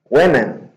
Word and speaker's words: women: Women.